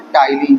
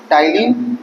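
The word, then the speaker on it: ptyalin: इसका एक और नाम है टलीन जिसमें पी साइलेंट होता है। ठीक है? टाइलीन इसका एक और नाम है।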